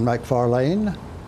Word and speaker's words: McFarlane: We're talking today, folks, with Justin Scott and Martin McFarlane. There's emphasis at the end of in the last syllable of your name.